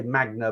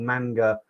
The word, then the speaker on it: manga: I always pronounce it wrong. I say magna, but I think it's called manga.